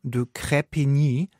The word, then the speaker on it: de Crespigny: Der volle Name lautet übrigens Richard Champion de Crespigny, also Crespigny geschrieben, falls ihr das nur hört und nicht die Shownotes liest. Aber da der Mann nun mal Australier ist, wird der Crespigny, de Crespigny ausgesprochen.